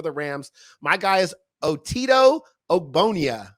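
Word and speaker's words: Otito Ogbonnia: rams my guy is otito obonia i think that's how you say his name that's right otito ogbonia he's from ucla he's an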